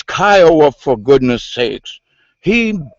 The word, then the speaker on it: Kiowa: And for that guy that couldn't pronounce the correct name of the native tribe, it's Kiowa, for goodness sakes.